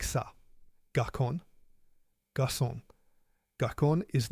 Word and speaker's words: garçon: gacon garçon Gacon is not the correct spelling. Garçon is correct. The cédille tells you to pronounce the C like S.